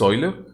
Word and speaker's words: Euler: Bueno, puedo utilizar el método de Euler o de Euler. No, sí es Euler, es la forma correcta en la que se tiene que pronunciar. Entonces, vamos a alternarlo, ¿no?